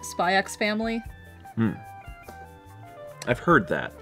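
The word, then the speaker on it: Spy × Family: because I don't know if the X is pronounced. Spy X Family?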